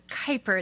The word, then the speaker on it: Kuiper: Hi, my name is Kuiper. It's not spelled that way, but that's how it's pronounced.